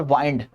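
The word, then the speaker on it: wind: विंड और वाइंड दो pronunciation दो मतलब। विंड हवा। वाइंड मतलब किसी चीज को मोड़ना।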